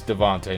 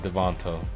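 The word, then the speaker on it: DeVonta: Devonte this Devonte man he was only it's Devonte not devono Devonte oh is it pronounced you just say a I've heard Devon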